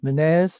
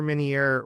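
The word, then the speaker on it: Ménière: Uh so an says um I don't know how you pronounce this. It looks like another French word. Minire's disease. Is that how you say it? Uh you are correct. Yeah, Prosper Minier was a French neurologist.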